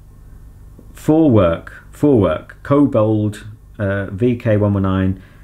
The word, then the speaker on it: Vorwerk: a 90o a pneumatic James Vorwerk which is pronounced up for for I was looking it wrong for work for work kobold VK 109 familis 600 l